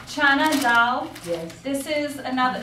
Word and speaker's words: Chana dal: Chana dal. Chana dal.